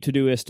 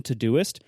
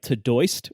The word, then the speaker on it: Todoist: the problems is that Siri doesn't really recognize the the pronunciation todoist you have to pronounce it wrong like tooy or other like and like